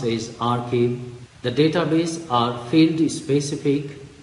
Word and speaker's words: arXiv: ProQuest wave of science arXiv which is pronounced a is our key the database are fairly